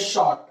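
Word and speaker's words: Schottky: हम लोग बोलते हैं शॉर्ट। क्या बोलते हैं इसको? शॉर्ट। जिस तरीके से मैं प्रोनाउंसिएट कर रहा हूं आप भी उसी तरीके से करें। सी एक्चुअली साइलेंट होता है, शॉर्ट, डबल टी शॉर्ट पर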